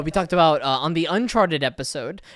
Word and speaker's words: Uncharted: And then there was also, we talked about on the Uncharted episode. I don't know why I put the emphasis on the wrong syllable, but Uncharted episode. On the Uncharted episode, not Charted.